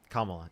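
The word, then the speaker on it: Kamala: So, you think Kamla, is that how you say it? Kamla, yeah.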